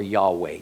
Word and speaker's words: Yahweh: What it really says there is, "I wait for your salvation, Yehovah," or Yahweh, depending on how you want to pronounce it.